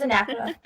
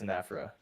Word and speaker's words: anaphora: I looked it up how to pronounce it. It's anaphora. Yeah, it's anaphora.